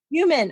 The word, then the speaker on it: Heumann: Heumann, okay. On my podcast today. That's the actual German pronunciation. I am German. I'm from Germany. So well, you got it right, but we not go for Heumann.